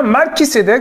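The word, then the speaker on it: Malki-Tsédeq: qui cdec en hébreu malki cdec je dis bien mal qui cédait que vous avez bien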